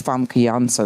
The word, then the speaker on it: Famke: have such a St my name is fansa that's how you really pronounce it and so it was